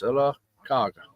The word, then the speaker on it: Sylacauga: And they'll start, "Is that Sylacauga?" Or, I said, "It sounds just like it's spelled. It's Sylacauga, Mm-hmm.